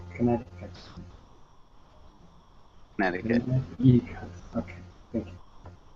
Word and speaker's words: Connecticut: And how you pronounce Connecticut? Connecticut? Connecticut. Sorry, Connecticut. Connecticut. Connecticut.